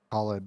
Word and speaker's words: Khalid: Khalid, the Xnid, five Roxas, is- and King Abadi. What was the first one? Khalid is how you pronounce his name.